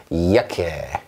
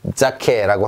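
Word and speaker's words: Jacke: 이야케. 이렇게 읽습니다. 이야케. 자, 자케라고 하고 싶죠? 저도 그 마음 압니다. 알지만 이거 이야케 이렇게 해주시면 되겠습니다.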